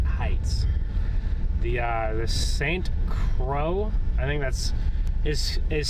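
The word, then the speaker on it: Croix: It's either Crow or Croy. Could be Croy, but I know the ax is silent. I'm not good with I'm not good with these uh French French towns. The names of these French towns.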